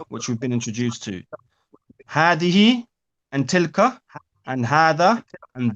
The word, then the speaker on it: هذه: Hadihi is another example where we pronounce the alif and we do not write it. So it's not hadihi, it's hadihi.